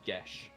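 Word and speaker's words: Geas: I've always pronounced it I've always pronounced it guos like codeos it's it's it's Irish gelic which means it's pronounced GES Oh I thought they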